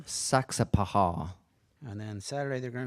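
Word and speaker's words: Saxapahaw: hall river ball roman one more time the pronunciation of that town saksa paha and then saturday they're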